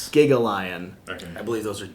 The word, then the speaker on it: Gigalion: is supposed to be it's supposed to be gigalian but we were talking with one of the designers at gen con and he actually said that he liked the pronunciation of gagalian as well so it's interesting because some of the cards like that one literally says giga yeah so it's it's specific it's specifically supposed to be gigalion okay i believe those